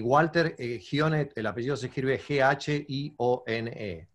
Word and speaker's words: Ghione: Y Walter Gione, el apellido se escribe G-H-I-O-N-E.